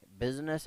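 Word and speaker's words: business: सिर्फ एक ऐसा वर्ड जहां आई साइलेंट होता है, बिजनेस एक ऐसा वर्ड है जहां पे आई साइलेंट होता है।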